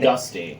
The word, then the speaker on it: Gusty: For me, it happened to be Gusto Galaxy because I played... Gusty. Gusty Galaxy, thank you. I always get that name wrong.